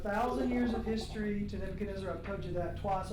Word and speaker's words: Nebuchadnezzar: Nebuchadnezzar. I'm a bad speller, so if you are too, that's the right way to spell it. Nebuchadnezzar. Nebuchad, those two are pretty easy. Nezzar, Nezzar.